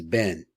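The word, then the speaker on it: בן: So the Sfardim pronounce this word as ben. So I learned from Sfardim, so that's the way I learned how to say it. The Ashkenaz, though, pronounce it ban, which is the way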